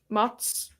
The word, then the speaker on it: Mads: How do you say his name? Mats. It's Mats? Okay, I always thought it was Mads Mikkelsen.